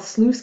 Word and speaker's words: sluice: the turbine okay so well these are called sluice gates you don't need to worry about that it's spelled s lu i seee sluice gates gates